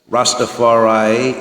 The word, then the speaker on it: Rastafari: He teaches us Rastafaray is four syllables.